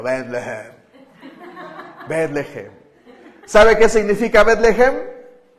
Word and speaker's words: Betlehem: Uno lo puede leer así como Betlehem. Así se pronunciaría como en hebreo, Betlehem. Para sonar bien hebreo, Betlehem.